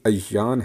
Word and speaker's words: ایان: عربی لفظ ہے لیکن اس کا تلفظ الف پر زبر اور یہ پر تشدید کے ساتھ ہے، یعنی ایان ہے، اور کلام عرب میں